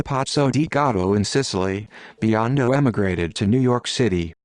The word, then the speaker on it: Biondo: 1966 new york city pronounced b-o-n-d-o-h also known as jb joe bandy